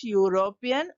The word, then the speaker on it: European: ten he is - European who lives in - India the European is beginning with the vowel letter to be already told when we are pronouncing it has the sound of Y so we have to